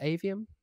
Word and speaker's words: Aveum: James am I pronouncing that correctly is it avum I don't really know I've forgotten but yeah yeah it is AVM uh the the studio behind the models of